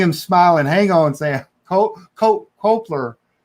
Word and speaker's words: Culper: Culper. It's so weird to put the L before the P.